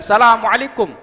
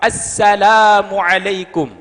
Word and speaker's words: Assalamualaikum: pernah saya sampaikan disini cara mengucapkan salam yang betul bukan Salamualaikum tapi kalau Salamualaikum jadi nakiroh izin nakiroh tapi izin makrifah Assalamualaikum jawabannya juga banyak salah